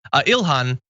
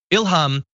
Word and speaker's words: Ilhan: So Ilhan Omar says Ilhan Ilhan I prefer Ilhan. I never like the M sound. It means inspiration in Arabic. My mother named me Ilhan and inspired me to lead a life of service to others.